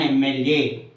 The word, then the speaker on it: MLA: It gives the pronunciation of A, MLA. Okay, we pronounce as MLA, A. So the starting pronunciation is vowel pronunciation, that is A pronunciation.